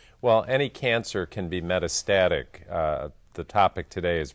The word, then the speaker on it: metastatic: going to talk about medicis did I say it wrong doctor me out here yeah Meta Meta metastatic okay metastatic I don't it